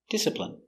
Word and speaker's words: discipline: he doesn't behave pronunciation discipline d d dis it disciple disciple discipl discipl discipline discipline discipline stress on first syllable discipline discipline discipline I